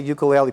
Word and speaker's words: ukulele: Just incredible guitars and basses and ukuleles. And every time I say ukulele, people, they correct me. They go ukulele. Ukulele. Because the right pronunciation is ukulele. It is right, and I keep saying it wrong.